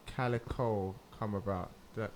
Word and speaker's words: Calyco: not formed like officially how did the name Calico come about that pronounce that correctly yeah yes oh thank God